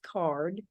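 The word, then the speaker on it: CAURD: applicants it's called card the acronym is c-a-u-r-d pronounced card stands for conditional adult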